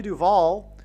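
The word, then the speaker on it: Duvall: And so, uh, Shelley Duval, uh, uh, her name rhymes with Hall.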